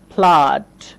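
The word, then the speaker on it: flood: ফ্লাড। ফ্লাড। ফ্লাড মানে হচ্ছে বন্যা। তো এখানেও আ উচ্চারণ করতে হবে।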